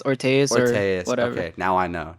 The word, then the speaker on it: orteus: Just so just don't say Ordius. Every time I hear that, I get pissed off. It's Ortas or Okay, now I know.